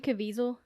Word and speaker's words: Caviezel: I'd never heard about this before so Jim Caviezel did I pronounce that correctly yes yes the actor he